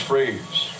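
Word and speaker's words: Frias: a strike over to freeze f r i i pronounced freeze John lwig part of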